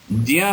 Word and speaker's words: ज्ञ: ऐसे ही ज्या, जिसको हम ज्ञा भी बोल देते हैं, यद्यपि उसका उच्चारण सही उच्चारण ज्या है, क्योंकि ज और या के योग से ज्या बनता है।